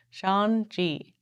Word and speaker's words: Shang-Chi: Shang-Chi. Pronounced like Shang.